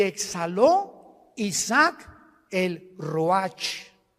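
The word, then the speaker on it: רוח: y exhaló Isaac el Roach así como suena se pronuncia la c en hebreo como J ruaj se les só y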